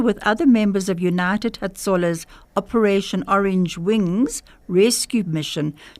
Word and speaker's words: Hatzollah: United Hatzollah Israel.